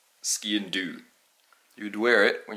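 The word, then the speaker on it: sgian-dubh: Ski and dub. You're close. Ski and do.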